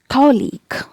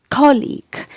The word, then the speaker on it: colleague: college and league so e is a long vowel here and the primary stress is given on the first syllable it's very important to